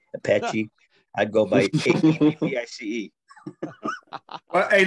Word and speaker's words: Appice: But I wouldn't go by Appice, Epsi, Apache. I'd go by APICE. Hey Lee, let's hear your version. How do you pronounce it? I thought it was a piece.